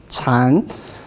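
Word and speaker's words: 禪: turning english dictionary now but original world is pronounced as chan because as a japanese mispronunciation of chinese will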